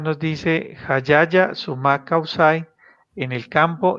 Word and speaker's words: sumak kawsay: el buen vídeo y realmente bueno como se pronunciaría bien jalarla a la la y sumak kawsay así está muy bien así estamos bien carla